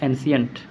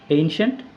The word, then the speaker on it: ancient: হচ্ছে এনসিয়েন্ট এন সি আই এনটি মানুষ বলে এনসিয়েন্ট এর থেকে জগন্নার উচ্চারণ হতে পারে এনসিয়েন্ট এনসেন্ট হতে পারে আরেকটু ভালো এইনসিয়েন্ট একদম কারেক্ট তো ওটাই শুরু এটা হচ্ছে কারেক্ট